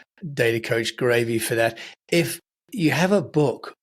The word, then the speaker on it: Graeve: hold of you, uh it's a bit confusing because you call yourself Data Coach Gravy. Uh, but that's because of your surname. Uh, which is spelled G R A E V E, right?